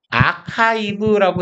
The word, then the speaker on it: archive: 이거 발음은 아카이브라고 해 주시면 돼요.